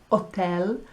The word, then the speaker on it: hotel: I would also like you to notice that we say hotel and hospital, and they say hotel and hospital. So the H isn't sounding.